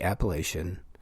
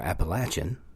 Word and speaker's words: Appalachian: One of the first ones I want to talk about is the Appalachian or Appalachin, depending on how you pronounce it, mimic.